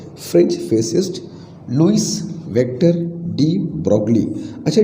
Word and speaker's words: de Broglie: French physicist Louis vector डी ब्रॉगली। अच्छा, डी ब्रॉगली का pronunciation डी ब्रॉय भी कुछ लोग कहते हैं, तो डी ब्रॉय बोलो,